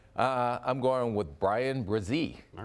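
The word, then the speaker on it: Bresee: you going with uh I'm going with Brian brazee all right how's my pronunciation fantastic job first round pick on names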